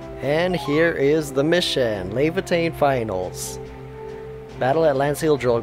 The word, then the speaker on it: Laevatein: Okay, so Rodriguez just pronounced it Laevatein. That's how it is. Now I can no longer mess it up.